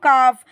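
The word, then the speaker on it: calf: ए एल एफ काफ यहां पे आपका जो एल वर्ड है वो साइलेंट रहेगा मतलब उसको लिखा तो जाएगा पर उसकी आवाज नहीं आएगी पढ़ने में तो इसका मतलब होता है इसको पढ़ते हैं काफ इसका मतलब होता है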